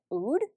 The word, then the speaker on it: oud: body mist in the scent black rose and oud that's how you pronounce it this kind of has a musk